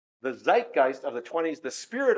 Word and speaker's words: zeitgeist: Fritz, that word zeitgeist, is that how you pronounce it? Zeitgeist. Zeitgeist. Yeah. Good.